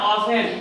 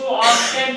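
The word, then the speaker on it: often: ऑफेन। कई लोग इसको ऑफ्टेन पढ़ देते हैं, तो इसको ऑफ्टेन ना पढ़ के हम ऑफेन पढ़ेंगे।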